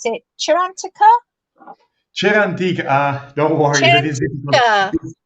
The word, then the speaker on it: Cerantica: Cerantica. Don't worry. Cerantica. Cera, it means wax, and lovely. Antica means ancient. So it's ancient wax.